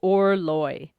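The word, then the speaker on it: Orloj: astronomical clock is pronounced or loy rhymes rhymes with door. Okay, that doesn't make sense. It says loy. It says or rhymes with door and then it says loy rhymes with boy.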